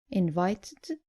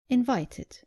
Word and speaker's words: invited: The less common mistake is not pronouncing the id clearly at the end of verbs ending in t or d. Just make sure you pronounce the e clearly. So, not invited, but invited.